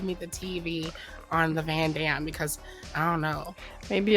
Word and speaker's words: Van Damme: Van Damme.